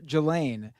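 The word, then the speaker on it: Ghislaine: This is this time the person who calls her Gelain is Virginia Guthrie. So she obviously spends unfortunately a lot of time with Gelain Maxwell uh to know how to pronounce her name.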